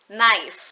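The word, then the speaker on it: knife: word is pronounced as naife the K is silent alias tidak perlu diucapkan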